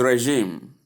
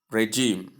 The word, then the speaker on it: regime: The number eight is regime not regime. Correct. Soft is a sound like in measure.